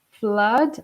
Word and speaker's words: flood: with the pronunciation there flood oh like it's pronounced like blood and so the meaning